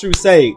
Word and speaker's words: True Sage: And of course, it's always, it is pronounced True Sage.